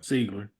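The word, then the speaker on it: Sigler: a good scene uh from Jamie L Lynn seigler I believe I'm saying it right but seagler seagler thank you close enough close enough let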